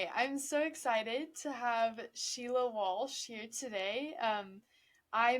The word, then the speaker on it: Sile: so I suppose I my name is Sheila it's spelled funny because it's spelled in the Irish way I'm based in Ireland